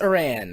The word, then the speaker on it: Aran: opposed to a person Samus Iran or Samus Aran depending on your pronunciation which I kinda covered